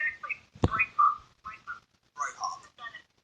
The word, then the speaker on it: Breithaupt: Breithaupt. Breithaupt. No, it's actually Breithaupt. Breithaupt. The son is right, but it's not. Breithaupt.